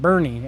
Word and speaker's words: Boerne: It's called Bourne, but people pronounce it Bernie, and it's kind of spelled like your name.